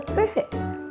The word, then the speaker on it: perfect: خلي بالك من نطق كلمه perfect، لازم يكون فيه هوا في صوت الباك ساوند، وخلي بالك ان فيه هنا ستريس او فيه شدة كده زي العربي بيبقى فيها loud voice والتون بتاعتك عالية فاحنا بنقول perfect.